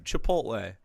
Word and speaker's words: chipotle: Just look at how it's spelled. Please, all Caucasians, just take the time. Chipotle. Uh, you know, you had to say, you say it flat as Chipotle.